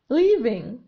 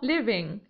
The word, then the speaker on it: leaving: We, leaving. هنا ننطق e. Leaving ليس living لأن living يعني فعل آخر ليس إيه بل إي Leaving When are we leaving؟